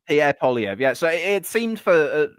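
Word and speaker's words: Pierre Poilievre: The the conserv his name is Pierre Polyv. That's how you say his name. Pierre Pyv.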